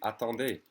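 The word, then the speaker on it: attends: formal way would be a tande or plural the d and the s is silent and then the plural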